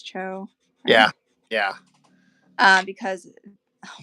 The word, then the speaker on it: Cho: Lee or Frank Cho I guess am I pronouncing that right it's Cho yeah yeah uh because oh my gosh cuz